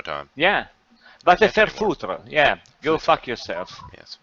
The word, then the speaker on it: foutre: saying it is, but it's va te faire faute. I can't do the It's go pronunciation. fuck yourself. Oh, okay. Thank you. Faire faute. I can't Va do te it. I used faire to be able to- foutre.